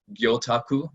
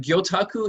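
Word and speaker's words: 魚拓: pronunciation guide there gyota gyotaku is the proper way to say it if you've got the japanese intonation and gyotaku it literally means fish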